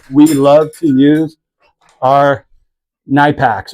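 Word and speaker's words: Knipex: This is where we love to use our Nipacks, or people call them nitpicks. They pronounce the K when you shouldn't, because you don't say knight, you say night if you're referencing that.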